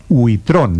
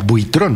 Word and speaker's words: buitrón: larga para quienes claro hay personas que me dicen aquí huitron No yo pensé que era una palabra Frances u con larga buitron Maria Consuelo la perdono